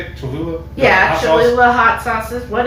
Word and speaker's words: Cholula: Cholula?